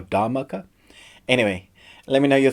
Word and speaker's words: Dhamaka: new indian movie called da maka i'm hoping i'm pronouncing that right i think it's got a silent h da maka or dharmaka anyway let me know